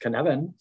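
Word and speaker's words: Cynefin: a sense-making device uh canevan pronounced canevan is a welsh word that signifies the multiple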